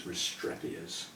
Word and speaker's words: Restrepias: Well, I don't know where he gets the E sound, looking at the spelling. Maybe that's how he first heard it and he's stuck with it ever since. But I'm pretty confident that correct pronunciation is Restrepias.